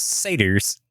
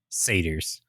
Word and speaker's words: satyr: we are talking about satyrs. Yeah, baby! A quick question. How do you say satyrs? Do you call them satyrs or satyrs? Satyr. Satyr. Okay. Like cider, but slang.